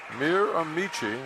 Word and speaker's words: Miramichi: Well, we got some pronunciation help coming in from the provinces, Jim, from New Brunswick. Miramichi.